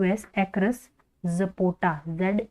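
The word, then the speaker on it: zapota: across ए सी एच आर यू S across जपोटा जड ए पी ओ टी ए जपोटा ठीक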